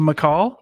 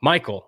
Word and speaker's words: Mikal: are we all right welcome mccall michael michael yeah okay you're not the first person i promise all right